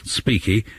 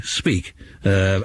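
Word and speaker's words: Apiky: of course um that you don't pronounce the final Y in whatever language it is they speak in Madagascar so rather than being speaky it's actually speak u anyway I may be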